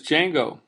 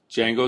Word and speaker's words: Django: What is Django? Django is a web application framework. The D is silent.